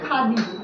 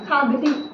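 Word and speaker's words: Khardji: जे मेन्शन केलेलं आहे त्याचा स्पेलिंग आहे के एच ए आर डी जे आर पण ऍक्च्युली तो त्याचा अपभ्रंश आहे ॲक्च्युअली गावाचं नाव आहे त्या खादी खादी असं नाव आहे तर आर is silent in this तर इनिशिअली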